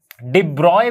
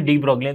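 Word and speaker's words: de Broglie: Okay, तो डी ब्रॉगली ने, डिब्रॉय भी कहा जाता है इनके प्रोनाउंसिएशन को, डिब्रॉय भी कहा जाता है या फिर डी ब्रॉगली, तो डी ब्रॉगली ने पहले कंसेप्ट दिया था मैटर वेव का, ठीक है।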